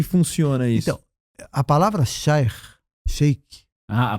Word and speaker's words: sheikh: Então, a palavra sheikh, a pronúncia correta como é?